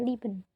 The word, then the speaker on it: lieben: Yang ketiga ada IE, itu dibaca I tapi agak panjang. Contohnya, lieben itu bacanya selalu lieben, bukan lieben, tapi lieben, dipanjangin.